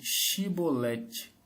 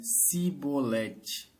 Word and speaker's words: Chibolete: E dizendo ele: "Não, então diziam: Dize pois, Chibolete." Porém, ele dizia cibolete, porque não o podia pronunciar bem.